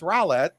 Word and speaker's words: Roulette: only in New York pronounce the role that my whole life and then found out the other couple weeks ago that it's Rowlett apologize to all the